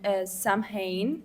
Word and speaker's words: Samhain: Okay, so Halloween has roots in the ancient Celtic festival on Samhain, they say it like this, which marked the end of the harvest and the beginning of the winter.